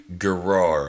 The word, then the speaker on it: Gerar: is going to settle in a land called gerar okay that's how we're going to pronounce it g-e-r-a-r which was ruled by a